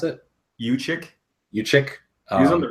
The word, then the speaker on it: Juszczyk: Carlos Hyde is probably their best player, so they can get, some blocking for him, and Jukic Is that how you pronounce it? Uchik.